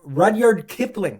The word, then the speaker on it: Rudyard Kipling: This is if uh pronounce his name for me. I know you know how to say it. Rodyard Rodyard Kipling.